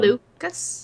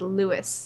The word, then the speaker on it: Lucas: Season Two Season one Lucas Lucas is that what I said no you said Lewis Lewis same thing I was close close I missed the syllable okay syllables who needs